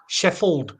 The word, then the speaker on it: Sheffield: City about Sheffield sheff sheffi is the proper pronunciation if you come from Sheffield it's sheffel Sheffield sheff right you got to miss the the